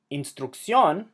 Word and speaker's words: instrucción: Instrucción has an emphasis on the last syllable, even though it ends in an N. Therefore, it's breaking the rules, so we need to write the accent mark.